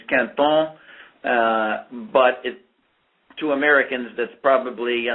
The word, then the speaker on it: Quinton: First of all, it's French, and the real French pronunciation is Quinton, but to Americans, that's probably not something you can figure out how to spell, but it is spelled Quinton.